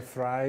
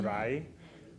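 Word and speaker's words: Vrije: I probably won't be able to catch the pronunciation anyway. So maybe you can say sure it's the Fry University. The Fry Fry University University.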